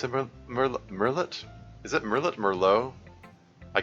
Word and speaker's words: Merlot: French yeah Merlot Merlot that's rather anglicized pronunciation of a French word oh well if it's French I would have pronounced it Melo but you know that's the French kind of rules are ours more uh the front in French they have a thing where they they don't pronounce the last uh the last letter of words uh it's kind of